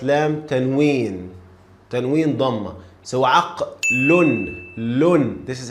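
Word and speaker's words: عقلٌ: So aqlun. This is how we pronounce. This is how we say lam tanween dhamma. Aqlun. Again, aq, ayn, fatha. Qaf, sukun, lam, the last one with tanween dhamma.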